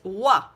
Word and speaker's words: oie: We don't pronounce the D, so it's canard, and then goose, which is oie.